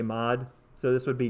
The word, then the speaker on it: mod: So I'm going to do, and by the way, so this is pronounced mod. The full word would be, I guess, modulo or modulus. I usually just say mod.